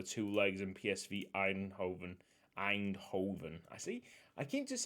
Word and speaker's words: Eindhoven: legs and psv eindhoven eindhoven i see i can't just say i keep saying eidenhoven there's no extra syllable i i don't know